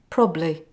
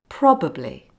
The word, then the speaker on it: probably: remember celebrate probably now when you hear probably spoken very quickly it sounds like probably it's very lazy so it's wrong and a bad way of saying it so say after me probably now let's look at